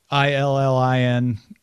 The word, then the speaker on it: Illinois: The state, I-L-L-I-N-O-I-S, is pronounced with an E. Illinois. Oh, yeah. Yeah. So basically, letter N and the Jewish exclamation oi, Illinois.